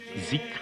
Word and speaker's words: dhikr: chœur, en particulier la pratique collective du dhikr que les Afghans prononcent zikr à la façon persane.